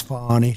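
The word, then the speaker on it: Fani: she you very unfairly she goes by the name of Fon even though it's F A ni I she wants to pronounce fonnie she's little little French little French accent and her lover and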